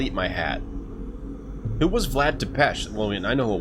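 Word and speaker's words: Vlad Țepeș: age lived here okay most famous member was Vlad depech hero of the war against the term oh that's how you pronounce that I thought I was thought it was Vlad T piece but it's Vlad to pesh there's no h there are you supposed to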